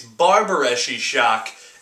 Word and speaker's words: Barbareschi Sciock: a little bit i do know how to pronounce it it's barbareschi shock and i hear it's an italian talk show